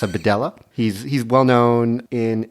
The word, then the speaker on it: Bedella: L's in it it could be a a badea but it's not it's a badela he's he's well known in England he's an